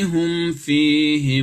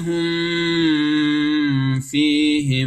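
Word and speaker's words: هم فيه: Hum, di sini ada mim mati bertemu dengan fa, ini cara bacanya adalah izhar. Ingat, harus jelas. Mimnya itu harus jelas. Tutup mulut dulu, baru dimasuki huruf fa.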